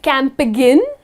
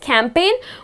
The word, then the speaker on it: campaign: or it's a campaign you do not see can't begin ok that's the curve incorrect pronunciation it's just campaign where the letter G goes silent and then the another